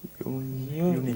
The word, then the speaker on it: unique: Right, the stress is on the second syllable. Unique.